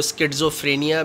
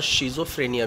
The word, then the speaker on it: schizophrenia: इसको स्किज़ोफ्रेनिया भी प्रोनाउंस करते हैं और शिज़ोफ्रेनिया भी प्रोनाउंस करते हैं।